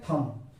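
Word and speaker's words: thumb: है और यहां पर देखिए थंब थंब इसे बोलते हैं अगर इसको हम बी को पढ़ें तो थंब हो जाएगा लेकिन बी यहां पर साइलेंट है इसीलिए हम इसे क्या पढ़ते हैं थंब उसी प्रकार दम यानी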